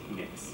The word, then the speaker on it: Mx: If you want to have a gender neutral title, you have the MX, which is just pronounced mix.